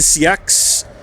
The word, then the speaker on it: Seax: or not he is the CX I think is how you're supposed to pronounce it. I am still unsure.